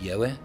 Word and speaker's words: Yahweh: And so I believe that the most correct pronunciation would be Yahweh. And if it wasn't, I then believe that the most correct pronunciation would be Yahuwah or Yahweh, instead of Yahovah, Yahweh, or Yahweh.